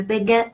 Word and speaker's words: béguin: Now the E in this word is pronounced E because it has an accent.